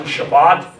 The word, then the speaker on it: Shabbat: The first is the Sabbath, or the more Hebraic pronunciation, Shabbat.